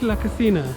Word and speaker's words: Cascina: We read it Cascina. Oh, is it really? Yeah. For me, it's La Casina. Yeah. So you use La Cascina? Cascina, yes.